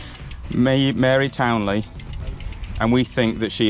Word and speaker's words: Mary Towneley: it really back to mary towney lady town sorry lady townley i've been saying it wrong the whole way around i kept correcting these two it turns out i was wrong mary townley and we think that